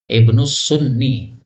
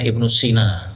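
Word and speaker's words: ابن السني: Ibnu Sunni. Karena dulu saya masih kecil bacanya Ibnu Sina. Salah ya. Kalau Sina itu tidak pakai ya gini, tapi pakai alif. Sina. Kalau pakai ya, ini Sunni.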